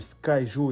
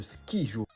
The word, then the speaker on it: Skyjo: Oui, t'as très bien entendu, j'ai dit le Skyjo et non le Skijo. Car oui, certaines personnes prononcent le nom du jeu comme il est écrit, mais non.